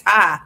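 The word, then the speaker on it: Ptah: Oh, and people pronounce it Patai. I've been pronouncing it Patai. It's Tai. Okay. The P is silent.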